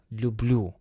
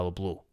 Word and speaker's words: люблю: The stress falls heavily on the last syllables. Я тебя люблю.